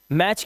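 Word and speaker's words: match: मैच के अंदर भी हमारा टी साइलेंट है।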